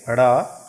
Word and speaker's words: ड़: इसका उच्चारण करेंगे ड़, ड के नीचे बिंदी लगा के ड़ बन गया, और ढ के नीचे बिंदी लगा के ढ़ बन गया।